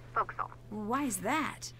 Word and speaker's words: forecastle: ship, but it's pronounced forecastle. Why is that? Try pronouncing it like an English sailor with no formal education.